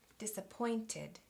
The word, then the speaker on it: disappointed: Okay, I'm going up here: disappointID, disappointID.